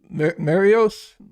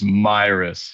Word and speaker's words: Mayeros: Marios, It's Mayeros. Yep. The Myris. A and the E are silent.